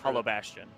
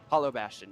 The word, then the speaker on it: Hollow Bastion: And we are going to I cannot pronounce this stage. Hollow Bastion. Hollow Bastion.